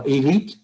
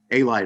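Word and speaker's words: Alite: One of the people you knew, Jason, was, how's it pronounced, Paul? Elite? A-Light, actually, John A-Light.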